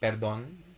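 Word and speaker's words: perdón: of the o okay berdon okay so the accent is on the second syllable perdona okay perdonna is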